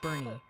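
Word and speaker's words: Boerne: Loving Tate dropping in with a Bro just got pronunciation guide for completely us. cut off. They say Bernie is Bernie.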